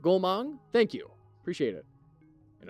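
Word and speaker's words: Goumang: of gaang should be pronounced as oh oh as in Goat gong gong okay is that right gong thank you appreciate it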